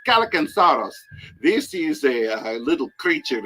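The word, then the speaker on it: Kallikantzaros: It's hard name to pronounce, but it's Calicansaurus.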